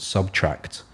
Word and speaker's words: SBTRKT: track, this group out of the UK called Subtract. spelt interestingly. How do they spell it?